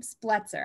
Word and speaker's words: Spletzer: I said it right this time, Spletzer. I keep trying to say Spletzer too for some reason, but Spletzer, the founder and CEO of Clockwork.